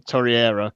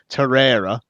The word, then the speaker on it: Torreira: absolutely and two things I'm gonna pick you up for saying Torre era because we're getting abuse on Twitter for saying his name wrong torero okay I'm just gonna